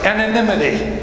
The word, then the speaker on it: anonymity: know that why just pretend it's an eye and make its live syllables so it's anonymity and I can say